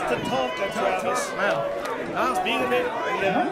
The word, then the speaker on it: Tatanka: And look at Tanaka. Tatanka. It's pronounced Tatanka, Travis.